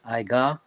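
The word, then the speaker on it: עוגה: Young man, if you could say how that word is pronounced in Hebrew. It's Iga.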